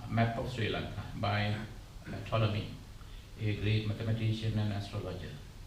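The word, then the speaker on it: Ptolemy: Claudius toy is pronounced toi p is silent cloudious toy this is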